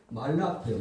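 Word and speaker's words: מלאך: 그리고 어근은 말라크예요. 말라크. 이것을 여러 가지 발음하세요.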